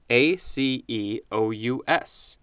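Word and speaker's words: -aceous: So the suffix is pronounced aceous, which is similar to the other one we had, acia, as in rosacea.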